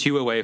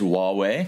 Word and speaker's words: Huawei: so not not not H hu away I pronounced it as Hue away for for years so uh I think WWE